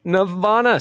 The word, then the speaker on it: Navanas: Navanas, spelled like bananas, only with an N and a V. N and a V, yeah. Navanas.